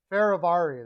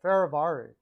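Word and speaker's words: Fehérváry: Ferravari, that's how you say it. Ferravari.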